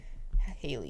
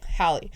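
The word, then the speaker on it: Hailey: Hie and Haley. Haley is wrong. Hie.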